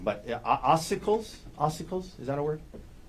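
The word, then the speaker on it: ossicles: It's oicles. Okay. What is that? So, it depends where you're looking. There there are oicles in different locations.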